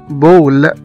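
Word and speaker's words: ball: مثلا كمان زي كلمة بول، B-A-L-L، كرة، هنا نطقنا حرف الـ A كأنه حرف O، بول.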